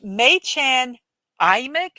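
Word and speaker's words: Mädchen Amick: And we have May Chan Amick. Amick. I actually got a phonetic pronunciation of her name.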